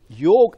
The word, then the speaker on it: yoga: Yoga actually is the word, A is silent in yoga.